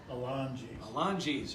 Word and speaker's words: Alongi's: I pronouncing this right, Alongi's? Alongi's, okay. Soft G.